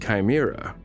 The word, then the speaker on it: CHIMRA: Collection and handling for in situ Martian rock analysis, CHIMRA, pronounced Chimera, is the new name